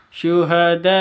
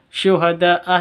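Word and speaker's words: شُهَدَاءَ: karena ada tanda berdiri di atasnya syuhadaa ini ada Mad bertemu dengan Hamzah di satu kata da awalnya Mad terus Berhubung ada layar berh bertemu dengan Hamzah berarti di satu kata ini syuhadaah itu satu kata berarti bacaan mad wajib panjangnya boleh e harus lima lima atau enam ketuk bilqisto ada alif lam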